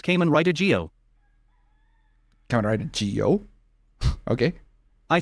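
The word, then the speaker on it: Zi-O: Geo media, like how Kamen Rider Zio is pronounced Kamen Rider Geo.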